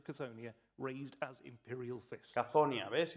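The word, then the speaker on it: Cthonia: Cazonia, ¿ves? El que preguntaba ayer cuál era la pronunciación, ahí la tienes, Cazonia.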